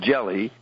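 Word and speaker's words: Gelli: book called God's banker Mr jelly pronounced jelly was born on April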